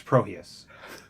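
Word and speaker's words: Prohías: but um projects prohibits proheus you know we learned french up here so the h is silent wait are you in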